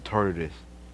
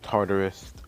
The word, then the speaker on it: Tartarus: we're breaking in the tardis tonight i mispronounced tartarus um well it's tartarus okay now anyways you may